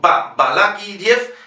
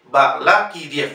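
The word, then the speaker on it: Balakirev: Balakiriev. Igual no digan Balakiriev con la V, sino Balakiriev y la E. No se olviden IE. Balakiriev.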